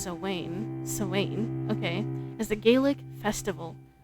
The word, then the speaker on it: Samhain: The Semaine, approximately pronounced Samhain, okay, is a Gaelic